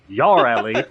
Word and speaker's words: Yareli: Uh, you could type in y or you could type in uh Yeah, because it's technically pronounced yelli.